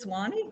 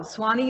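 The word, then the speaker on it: Sewanee: at how do you say that name just swanny oh swanny university in tennessee before eventually going on to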